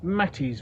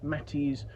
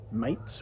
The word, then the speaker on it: Mates: it's my understanding that the name is pronounced mattis rather than mates which it could be read as or equally I have heard people say martes but I think mattis is the correct pronunciation there.